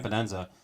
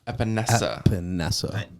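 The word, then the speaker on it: Epenesa: who gets pissed off if I said his name wrong. AJ Epinenza can also play a line or has been practicing at linebacker position. Epinesa.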